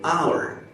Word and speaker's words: hour: sound yes we don't say Howard we say our so we pronounce the the article is pronounced the the hour the hour the Apple the English book Etc